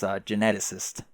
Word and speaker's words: geneticist: Like, pretty fast, but it's geneticist.